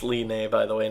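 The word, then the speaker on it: Linne: we'll talk about later that her name is pronounced Li Mei by the way not Lin like I've been calling her but anyway you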